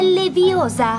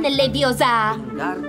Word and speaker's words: Leviosa: Per di più sbagli pronuncia. È Leviosa, non Leviosa.